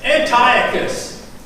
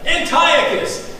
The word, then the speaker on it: Antiochus: cruel and how do you say his name Antiochus I worked on it all week Antiochus the